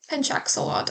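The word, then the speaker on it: pencak silat: I had been definitely saying that wrong. Penchak-Salat. Penchak-Salat. I'm actually gonna fucking search that up. Why is a pronunciation video 40 seconds? Why? Okay, I said it right.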